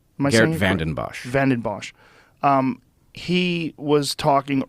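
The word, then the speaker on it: Geert Vanden Bossche: Geert Vanderbosch? Geert Vanden Bosch.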